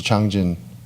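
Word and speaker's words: 장진: the one great war the Chosin Reservoir war which in Korean we pronounced it as two changjun reservoir where the United States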